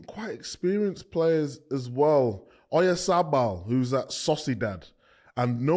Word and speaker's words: Oyarzabal: Oyarzabal. Oyarzabal.